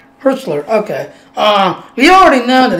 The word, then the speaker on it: Hertzler: Husler. I thought how you pronounce Husler. How you pronounce his name? J.G. Hertzler, yeah. Hertzler.